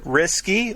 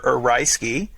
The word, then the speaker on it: Ryeski: I'm having some Risky or Ryeski, depending on how you want to pronounce it.